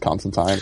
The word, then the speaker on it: Constantine: and he's like no it's time rhymes with fine and he is and